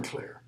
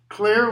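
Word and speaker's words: Clayr: Or maybe the way we should pronounce that is more like clear. Klore, like in clarify, means to make clear.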